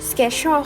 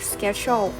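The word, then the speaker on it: schedule: ยาก ใช่ ไหม คะ จริง ๆ แล้ว มัน ออก เสียง ว่า schedual ค่ะ schedual มัน จะ แปล ว่า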